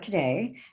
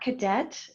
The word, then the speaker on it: Cadet: Cadet. It's not cadet, it is Cadet. As you heard Mafe say, my last name is French, and that's because I'm French.